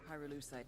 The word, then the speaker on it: pyrolusite: You know what pyrolusite is, right? Yeah. No. Neither did I. Pyrolusite, key syllable pyro, by the way, is